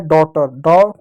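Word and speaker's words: daughter: होगा, अ हो गया, जी एच टी साइलेंट होगा वहां पर उसका हो जाए सिर्फ ट के रूप में होगा, ई आर का क्या र होगा, हो जाए डॉटर, डॉटर हो जाएगा।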